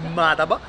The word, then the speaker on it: Madaba: Siamo arrivati nella città di Madaba, in realtà, perché la cadenza dell'accento cade sulla prima sillaba, quindi Madaba.